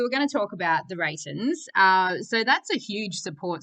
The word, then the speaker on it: The Reytons: The Reytons? Well pronounced, yeah. Oh, nice. Okay, sweet. And so the Reytons, like the word Reytons, and it's roughly translated, it's the right ones.